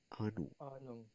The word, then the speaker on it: Ahnung: Pronounce with me. Ahnung. Ahnung आनुंग haben.